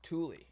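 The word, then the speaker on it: Thule: at was called tule th you le but pronounced tule and it's if there's a polar bear sighting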